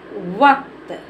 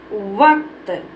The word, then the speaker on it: वक्त: इसको हम क्या पढ़ेंगे वकत नहीं पढ़ेंगे क्योंकि क में साउंड आधा है का में हमारे क्या है साउंड आधा है तो इसको क्या पढ़ेंगे वक्त क्या पढ़ेंगे बेटा इसको पढ़ेंगे हम वक्त तो चलिए और भी